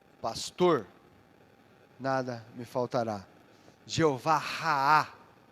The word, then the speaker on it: Raá: Jeová Raá, o meu pastor, Jeová Raá, não é Rafá, Rafá é o Deus que sara, que pastor é Raá, né? R-A-A-H, Raá, Jeová Raá.